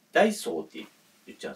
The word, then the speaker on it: ダイソー: ちゃうんですよ北海道の人って後ろ下げるイントネーションが多くてダイソー何何みたいなそういう言い方があまりないような気がするんですけどだ